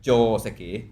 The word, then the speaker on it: joseki: So I mean, for example, the word Joseki, if I'm speaking in English, I'm saying Joseki, I think. Right. But in Japanese, the O is longer. It's like Joseki.